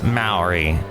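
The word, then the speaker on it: Mowry: a little street called Maori. Yes, Maori. It sounds cool because it rhymes with the Bowery, and that looks really flowery.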